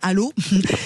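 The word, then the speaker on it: Allauch: Alors, ça se dit allô mais oui, on est on est sur 15000, il y a pas de souci. Non mais allô. Voilà, exactement allô. Ça s'écrit àoche mais ça se dit allô.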